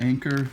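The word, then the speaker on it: Anker: as well as this i believe you pronounce it anchor brand 10 000 milliamp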